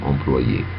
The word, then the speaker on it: employé: تمام، employé، والاتنين بيتنطقوا زي بعض تقريبا.